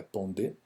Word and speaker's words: Pondé: O Pondé, o filósofo contemporâneo Luiz Felipe Pondé, ou Pondé, né? Porque o sobrenome é francês, né? Então a pronúncia correta é Pondé.